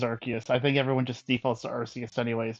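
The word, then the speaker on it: Arceus: and who you ask, is it Arus or Archus?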